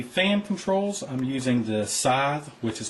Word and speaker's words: Scythe: For the fan controls, I'm using the Scythe, which is pronounced correctly now.